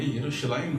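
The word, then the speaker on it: ירושלים: اور اسی طرح سے یروشلم جو ہے، یہ عبرانی زبان میں یروشلائم کے نام سے ہے اس کا تلفظ، اور اس کا بھی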